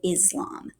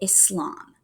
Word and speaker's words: Islam: A lot of Americans pronounce it Islam, kind of with a Z. But a lot of people who practice the religion pronounce it Islam, like with an S.